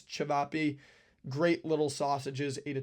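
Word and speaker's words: Ćevapi: Cevapi or Sivapi, again, pronunciation not the best. I think it's Cevapi.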